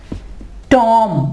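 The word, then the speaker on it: tomb: तो इसकी एग्जाम्पल क्या है, टॉम, मकबरा। देखें बी से पहले एम है तो हम बी को नहीं पढ़ेंगे।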